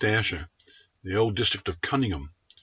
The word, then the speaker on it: Cunningham: the old district of cunningham pronounced in scots kinikum up until the 19th